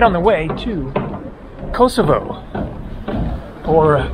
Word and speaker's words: Kosovo: on the way to kosovo or kosova if you prefer i think that kosova is the local pronunciation but kosovo is how it's pronounced in english feel free to let